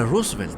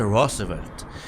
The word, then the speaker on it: Roosevelt: vaya a corregir Omar que no se dice roosvelt que se dice rosevelt así que para usted que